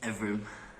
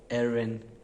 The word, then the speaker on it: Evrim: Evrim. Erwin. Evrim. Evrin.